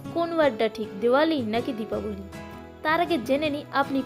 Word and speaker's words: দীপাবলি: South ইন্ডিয়ানরা এবং east ইন্ডিয়ানরা প্রথম থেকেই দীপাবলি শব্দটি ব্যবহার করে, কিন্তু নর্থ ইন্ডিয়ানরা দীপাবলির উচ্চারণ ভুল করে দিওয়ালি বলা শুরু করে।